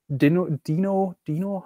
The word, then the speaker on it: Deno: like, because Igor mentioned Deno or Dino, how I learned it's now pronounced.